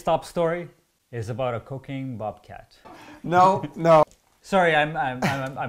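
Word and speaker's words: Cocagne: town called cocaine I'm gonna tell you I'm pronouncing that correctly but nope that's cocaine near cocaine in New Brunswick and that's in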